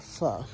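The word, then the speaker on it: phở: Not because I really like it, but because I like pho and it tastes good in pho. Or I'm sorry, pho. That's how you pronounce it.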